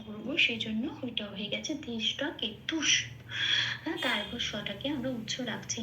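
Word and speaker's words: ধৃষ্টকেতু: কেতুহ কেতুকে আমি চান্টিং এর জন্য যখন তার উচ্চারণ করব সেজন্য ওটা হয়ে গেছে দৃষ্ট কেতু তারটাকে আমরা উচ রাখছি না তারটাকে নিয়ে উচ্চারণ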